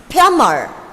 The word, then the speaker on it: plumber: Though there is a B here, make sure the B is silent when you pronounce this word. So how do you pronounce this word? It is not plumber, it is plumber.